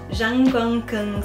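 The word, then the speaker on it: Zhongguancun: fuel and it's caught let me let me pronounce it properly Zhang bunkin software park and they're mostly do R&D so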